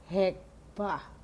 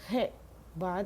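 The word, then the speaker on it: חדוה: en este texto es Hekbah. Se pronuncia así con K, Hekbah, se escribe Chedvah.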